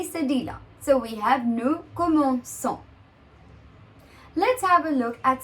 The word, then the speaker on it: commençons: the conjugation ONS, and if we don't add the cedilla, we'll have the pronunciation as comment con. We'll have a K, the K sound. And that's what we don't want.